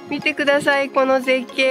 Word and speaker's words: 呉: By the way, pronouncing "Kure" with a falling-pitch isn't right. The locals in Kure pronounce it with a rising-pitch.